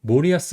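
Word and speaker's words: 森保: 이제 감독 모리아스 하지메입니다. 그래서 성은 이제 모리아스라고 읽어요. 그래서 수풀 3 치케포가 합쳐진 환자예요. 그래서 수풀 3은 모리라고 있고 그다음에 지킬는 야스라고 있고 그다음에 뒤에 이름 같은 경우는 이제 한일이 붙여 가지고 하재매라고 얘기 있습니다.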